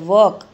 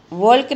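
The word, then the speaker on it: walk: W A L K, वॉक, वॉल्क नहीं बोलते, तो यहाँ पर ये L है वो साइलेंट है।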